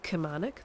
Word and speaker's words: Kilmarnock: a place called um Kilmarnock which everyone just says khomanic they don't pronounce the L A lot of the